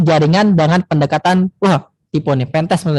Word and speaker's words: pentest: ISAF ini adalah juga framework yang dapat digunakan untuk mengevaluasi jaringan dengan pendekatan tipe nih, pentest bukan pentet ya. Ganti. Nggak elok bacanya.